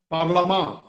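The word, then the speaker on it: parlement: ये जो पार्लियामेंट शब्द है ये फ्रेंच शब्द है। पार्लियामेंट, पार्लामा, फ्रेंच में उच्चारण पार्लामा है।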